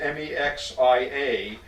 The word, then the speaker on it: Mexia: It's pronounced Mexia, but it's consistently mispronounced by everyone who tries to pronounce it.